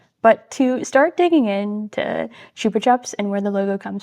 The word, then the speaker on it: Chupa Chups: And Chupa Chups is the correct way of saying it.